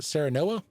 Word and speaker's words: Serenoa: It says players take on the role of, how do you pronounce it? Serenoa? That's the main character, Yeah, right? that's right. Serenoa, who is the current heir to the kingdom of Glenbrook.